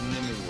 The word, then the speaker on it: Nimue: Isn't it pronounced Nimue? Like Shenmue and Shenmue.